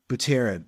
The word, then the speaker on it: Buterin: Vitalik Buterin, I don't even know how to pronounce Vitalik's last name, the creator of Ethereum. Buterin.